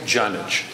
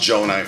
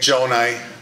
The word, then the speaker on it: Gjonaj: Oakland County Executive jich good evening everyone I know the G's and the J's get tricky so I'm used to it but it's pronounced Joni for those that aren't